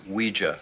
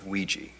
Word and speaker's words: Ouija: Ouija what it's pronounced Ouija not Ouiji it comes from the French and German words for yes we and yah Ouija I hate you